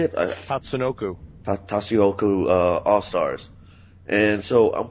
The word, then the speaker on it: Tatsunoko: Tatsunoko.